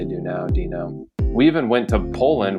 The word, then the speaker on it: Duenow: It's Dino, I guess. I don't know. Wait, it's what? Like the Flintstones, drop the U, drop the W.